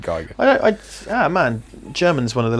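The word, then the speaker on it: Giger: whatever you want, but I know that the rule is this. Thanks GCSE German, that if it's IE, you pronounce whichever the second one is. right. So yeah, if it's EI, then it would be Geiger.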